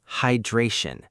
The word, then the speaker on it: hydration: Next word, hydration. Stress on the second syllable. Hydration. Try it. Hydration, hydration, hydration.